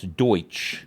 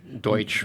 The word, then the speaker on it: Deutsch: We have this expression, Pennsylvania Dutch, that's actually meaning, it's Deutsch. Deutsch. Meaning German. Mispronounced as But we German. have... I never knew that. Yeah, they're not Dutch at all. They're Deutsch.